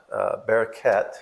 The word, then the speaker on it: Bereket: And a friend of mine in Kansas City heard about Bereket.